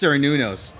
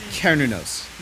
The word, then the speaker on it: Cernunnos: I found out that whoever told me it's pronounced Cernunnos is full of shit. They looked at the first result on Google and was like, yeah, good enough. Go, baby. It is Cernunnos, apparently. That is the way you pronounce it.